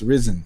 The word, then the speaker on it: Ryzen: new sites originally when the name ryzen leaked it was uh they were saying it's pronounced risen and I'm like I don't know and then somebody made the connection New Horizon Rising uh yeah I mean